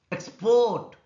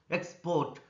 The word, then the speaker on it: export: Export. Here it is two syllabic word. Export. Port is stress.